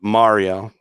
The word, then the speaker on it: Mario: Brian came by last week, a couple weeks ago, and Brian pronounces it Mario, not Mario, and us Filipinos pronounce it Mario.